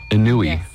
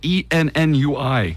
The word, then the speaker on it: ennui: Hey, the French have, Nico one time, just out of the blues, like, the French have a term, maybe you've heard of it, it's called Inui. It's spelled ENNUI. It's ennui. Ennui.